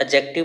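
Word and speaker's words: adjective: इसमें D silent होता है, इसको हम एडजेक्टिव बोलते हैं, लेकिन तुम्हारी स्पेलिंग मिस्टेक ना हो इसको, तो इसलिए हम इसको एडजेक्टिव बोल रहे हैं।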